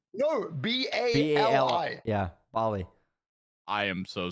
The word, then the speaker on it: Bali: Bali it's called it's it's that's how you pronounce it it's b b a r l e y no b a l i yeah Bali I am so sorry thank you